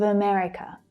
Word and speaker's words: America: It's that second syllable that's stressed and strongest.